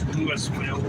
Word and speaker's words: Louisville: by Lewis Lewisville hello it's called Louisville but it's Lewisville Kentucky that's how they pronounce it we built but it's